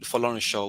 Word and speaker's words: Folorunsho: And instead of calling Folorunsho, which is the actual pronunciation of my surname, they just call Foley, mm, Foley, Foley, Mr.